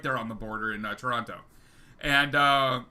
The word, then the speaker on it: Toronto: and so forth yeah the second t it's silent just trust me on that one yeah yeah yeah so